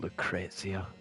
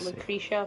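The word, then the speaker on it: Lucrecia: I pronounce it Lucrezia. I would have said Lucretia, but go on.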